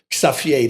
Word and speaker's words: Xavier: coolest guy in town xavier xavier that's how you pronounce it in holland and and he took